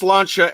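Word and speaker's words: Sláinte: pronounced the fact that it's pronounced slancha and there's no t in the in the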